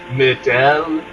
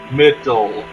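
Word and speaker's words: Mideel: over to the right of me is the middle region if someone says it's pronounced Midel you're wrong no you are 100% raw it is the middle region and it's for reasons that I'll explain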